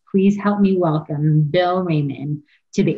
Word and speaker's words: Reiman: Is it Reiman or Reiman? It's Reiman. Yeah, Reiman. I've gotten Reiman. I've gotten Reiman, but it my whole entire life, but it is Reiman.